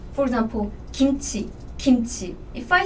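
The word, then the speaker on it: 김치: Korean G sound is a bit tricky though, because this Korean G sound is between English G and English K, like K. For example, kimchi, kimchi.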